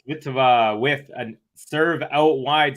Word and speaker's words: Kvitova: That was not a pronunciation thing. Kvitova, please. You got it. You got it, my friend. Kvitova.